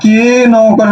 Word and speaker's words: কেন: এই যে তুমি লিখলা বিন্তে উমর লিখেছো কেন উচ্চারণটা হচ্ছে কয় কারে কে নকারে নো কেন আমরা কি বলি কেন আমরা কেন